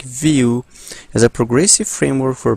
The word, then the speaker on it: Vue: and it's selling that view pronounced like view as a progressive framework